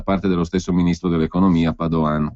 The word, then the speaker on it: Padoan: dello stesso ministro dell'economia Padoan con l'accento sulla seconda A quindi il quadro generale